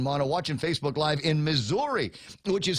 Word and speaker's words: Missouri: morning ray and mana watching Facebook live in Missouri which is how it's pronounced some people say misery but it's actually pronounced misery Norma Jean Bora Blevins is there Joel a